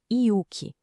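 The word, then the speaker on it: yuki: O primeiro pilar é o yuk e a pronúncia correta é iuk.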